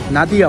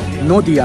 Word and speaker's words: নদিয়া: এই অঞ্চলের নাম ছিল তখন নাদিয়া, নাদিয়া অঞ্চল আর কি, নদিয়া, নদিয়া ইংলিশে হচ্ছে নাদিয়া উচ্চারণ হয় তো।